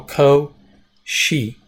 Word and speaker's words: Cauchy: so section 2.6 deals with what we call koshi sequences and so Toshi was french so this is how it's pronounced the sea is like a que que long o co she and the accents on the copart is a